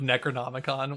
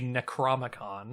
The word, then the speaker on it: Necronomicon: necklace oh my God his pronunciation of Necronomicon was so funny I believe he calls it the necromicon that's it necromicon and